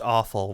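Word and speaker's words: offal: say the word I I think it's pronounced awful which is very funny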